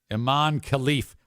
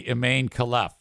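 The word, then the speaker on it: Imane Khelif: wrong by the way I got the pronunciation of that online and that actually is correct if you want to pronounce it like U you're an American you'd say imain KF but who wants to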